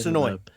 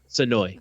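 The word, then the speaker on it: Senoia: Sonoy. Sonoy. The devil went down to Georgia. It's spelled like Sonoya, and we kept saying that, and the woman's like, that's not how it's pronounced.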